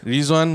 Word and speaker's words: Ridzwan: Ridzwan lah apa macam nak pronounce ni? Ridzwan La.fe.